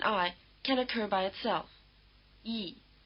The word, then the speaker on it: yi: Yi. It's written yi, but you can't always hear the y as a separate sound.